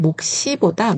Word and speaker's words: 몫이: 근데 우리가 좀 편하게 읽자면 몫시보다 몫시 이렇게 소리가 나요. 이거는 밑에 받침이 있을 경우에 그다음에 오는 자음은 좀 세게 발음되는 그런 현상이에요.